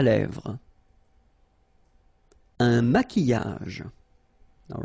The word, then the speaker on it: maquillage: Un maquillage. Okay, so here, same rule, Q-U, but then U is not pronounced, so qui, and then y.